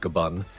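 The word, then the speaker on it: Gaban: Scopper Gabon, remember it's pronounced Gabun, tells Luffy that the Holy Knights are not invincible.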